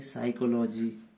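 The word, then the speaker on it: psychology: जैसे साइकोलॉजी, इसमें पी का कोई काम नहीं है, नहीं ना।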